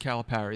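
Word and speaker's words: Calipari: coaches to have an above 500 record against calip Parry that would be the right way to say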